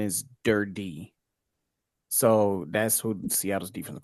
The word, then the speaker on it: Durde: One is Durd, and the other one is Durdy because it's two E's. So when you got the two E's, you got to extend the E's.